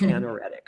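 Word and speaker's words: anaretic: There are not two seeds. It's anoretic. I'm sorry.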